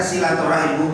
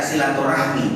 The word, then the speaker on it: silaturahim: atau anakan itulah ini Adapun silaturahmi dikatakan membacanya silaturahim yang benar bukan baca silaturahmi tapi yang benar Kebanyakan yang shahih adalah apa silaturahim bukan silaturahmi tapi sudah menjadi bahasa